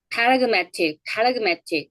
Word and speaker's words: paradigmatic: paradigmatic 그 발음 되죠.